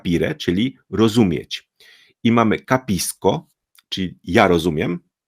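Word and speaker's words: capisco: czyli rozumieć i mamy kisko Czyli ja rozumiem Czyli tutaj c jest przed o więc wymawiamy jako ko ale ty rozumiesz to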